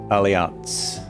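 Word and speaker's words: Allianz: us just a few feet from us aliance not Alliance aliance oh it's the insurance company Oh I thought it was pronounced well they pronounce it Alliance here though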